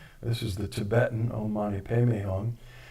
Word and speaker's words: Om Mani Padme Hum: You may know it as Om Mani Padme Hum, which is the Indian pronunciation. This is the Tibetan Om Mani Padme Hum.